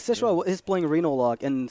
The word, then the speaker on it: Xixo: It's Xixo. Xixo. Yeah. Oh, okay. XI is like a SH. Yeah. Yeah. So yeah, like Xixo is playing Reno Lock, and so is StanCifka.